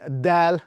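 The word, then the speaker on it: دال: It is dal. Not d like in English, but d as in Spanish.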